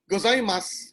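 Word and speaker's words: ございます: solved that problem no the japanese they indicated that a letter u of the syllabary must not be pronounced so when they speak gozaimasu which is actually thank you arigato gozaimasu that's the pronunciation but it's spelled so it's still syllabary there's still a symbol zoo but the vowel is not pronounced that was missing in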